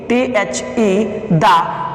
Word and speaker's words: the: बने हुए हैं वर्ड, लेकिन इसका जो प्रोनाउंसिएशन जो है हमारा, वो दी भी बोला जाता है, दा भी बोला जाता है।